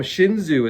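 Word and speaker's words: Xunzi: is a totally different uh individual so um shinzu is as it's pronounced um I'm going to just touch on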